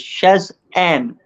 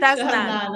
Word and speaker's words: Shaznane: Her name is, hopefully I pronounce it correctly, is Shazan. Am I right? Shaznane. Shaznane, absolutely, yes.